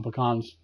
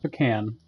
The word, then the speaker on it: pecan: because then you can't fast travel ah drama pecans and yes by the way it's pecan not the can the can isn't UPN these are pecans and